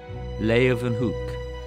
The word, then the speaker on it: Leeuwenhoek: L-A-Y, lay, ooh, then, they pronounce it with a V, hook, Leeuwenhoek, Antonie van Leeuwenhoek.